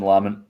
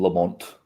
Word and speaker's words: Lamont: as I love Shan lament I'm not going to call him Lamont because that's not how you pronounce it um he he just